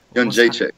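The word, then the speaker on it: Jędrzejczyk: I'm unable to pronounce her name. Joanna. Janjacek.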